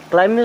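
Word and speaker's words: climb: ये लिखा है क्लाइम क्लाइम होता चढ़ना जैसे पेड़ों पर चढ़ना क्लाइमिंग करना तो यहां पर बी रहेगा साइलेंट और इसे क्या पढ़ेंगे क्लाइम बी ओ एम बीय क्या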